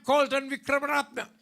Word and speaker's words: Colton Wickramaratne: I said, I am Colton Vikramaratna.